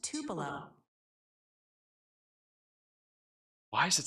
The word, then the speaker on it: Tupelo: It's pronounced Tupelo.